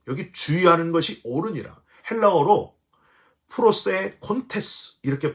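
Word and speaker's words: προσέχοντες: 오니라 주의하는 것 여기 주의하는 것이 옳으니라 헬라어로 프로세 콘테스 이렇게 발음을 하는데요이 프로세 테스가 뭐냐면 마음을 거기에 두는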